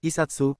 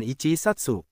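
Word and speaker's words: 一冊: Beberapa angka mengalami perubahan pengucapan agar lebih mudah diucapkan seperti Isatsu bukan Ichi Satsu.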